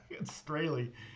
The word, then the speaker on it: Strahle: say your last name Straley not like it looks all right well you